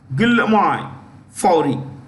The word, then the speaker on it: Guillaume Faury: Okay, so its CEO is a guy called Guillaume Faury. I'll spell it.